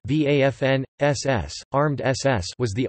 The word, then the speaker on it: Waffen: the waffen-ss german pronunciation vafn ss armed ss was